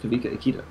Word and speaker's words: Kawika: pronunciation of Kavika Akita, it does look like Kawika Akira, but I have been instructed by the team that as it is a Hawaiian name, it is pronounced Kawika Akita.